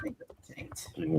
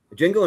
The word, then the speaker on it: Django: The Django Unchained awesome. The D is silent.